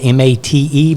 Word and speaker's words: MATE: Linux meant mate which is um it's spelled m-a-t-e but pronounced mate Linux Mint mate is for machines